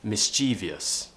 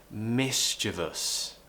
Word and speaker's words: mischievous: them have joined and pronounce this word as mischievous it's a really really common mistake but we want to say mischievous okay now the problem is I think people are mistaken by the spelling and they don't really